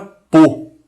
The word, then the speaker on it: peau: A U é um som muito fácil, pronuncia-se como O. Um O fechado, né? O.